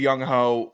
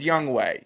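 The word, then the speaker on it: Younghoe: that's a non mistake it's spelled Yung Ho spell young ho but it's young way this way that way young way and I get it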